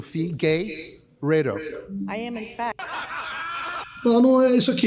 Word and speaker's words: Figueiredo: Well, it's Fee Gay, and I know you're a very big LGBT supporter, so Fee Gay Redo.